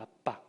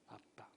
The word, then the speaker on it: 아빠: 아빠. 아빠. 이 아빠, 성경은 이것을 헬라어로 번역해서 파테르라고 기록했는데요. 이 아빠는 어떤 느낌의 단어냐면요. 어린아이가 아버지를 친근하게 부를 때 사용하는 그런 단어예요. 마치 우리말과 발음이 비슷한 아빠.